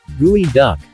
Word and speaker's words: geoduck: the gooey duck pronounced gooey duck is a large clam